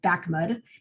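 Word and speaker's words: BAAQMD: and appliances um so this crazy acronym at the beginning we pronounce bakmud that's the bay area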